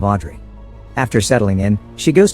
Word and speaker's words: Audrey: Park's house and asks to rent the room they're offering, telling them her name is Oduri, a mispronunciation of Audrey.